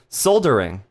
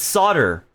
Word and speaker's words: solder: A TikToker was talking about soldering. I pronounced it yeah, I pronounced it soldering too. It's solder, which is bullshit. It's spelled like solder. So why don't you call it solder?